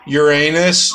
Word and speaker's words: Uranus: and your last name Uranus just like the planet uh just a moment